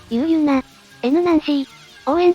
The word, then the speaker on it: U.N.オーエン: ということなので、ユナ、 N ナンシー、オーエンと読むらしいですね。